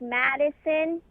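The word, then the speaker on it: Mattesson: what's last name Matson like it's it you say it like Madison but it's spelled like Matt E son m-a-t-t-e-s-o-n so you pronounce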